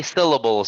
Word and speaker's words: syllable: try this word syllable How many syllables are in the word syllable um there are three syllables correct there are three and which syllable is stress syllable maybe the first